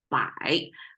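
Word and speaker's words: 百: Right side pronounced as bai, means 100.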